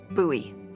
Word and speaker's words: Bowie: out this huge rusty Bowie knife. It's actually pronounced Bowie. What? No, it's like the last name, like David Bowie. Different last name.